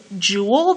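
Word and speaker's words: joule: Now, I'm going to slide down to jewel. That's how this is pronounced.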